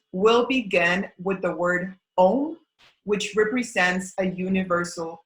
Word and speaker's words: Om: So the mantra in itself is Om Prithvi Dhatu Bhumi Devya.